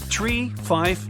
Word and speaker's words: tree: some Mega secret code it's the way Pilots pronounce certain numbers in their pilot English tree stands for three five for five and ner is used instead of nine such pronunciation helps to avoid radio miscommunications and the confusion caused by similar sounding numbers uh we're just finishing